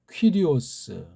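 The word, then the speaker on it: Κύριος: 그 말씀입니다 예수는 이제 원래이 본디 발음이 이예수 스고 그다음에 주는 퀴리오스 그리스도는 크리스토스 이렇게 음역을 해야 합니다 근데 요거 이수랑 그리스도는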